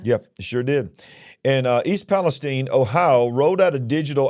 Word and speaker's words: East Palestine: East Palestine, and it's pronounced Palestine, by the way, East Palestine, Ohio, rolled out,